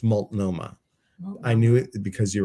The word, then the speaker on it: Multnomah: So I know I did say Multnomah. I wanted to say Multnomah. That's how I think it should be pronounced, like maltomeal, Multnomah, but it's Multnomah.